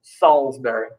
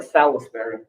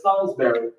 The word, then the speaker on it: Salisbury: but i went to salisbury that's how you pronounce it salisbury that's dude but it looks like salisbury yeah i know but it's salisbury what do you call the town that's a